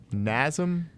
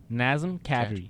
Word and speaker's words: Nazem Kadri: Kadri slow it down NASM Nazem Kadri there you go you just can't say you can't say NASM you have to say his name slowly NASM Thank You Andre